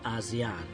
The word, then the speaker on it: ASEAN: On the 7th of August, 1967, the summit was satisfied with the name ASEAN, as the pronunciation of ASEAN is close to Asian.